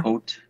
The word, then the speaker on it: Hoult: So it's me and Awkwafina versus Nicolas Cage as Dracula, and Nicolas, and I don't know how you pronounce his last name, forgive me, Nicolas Hoult. Uh-huh. Hoult.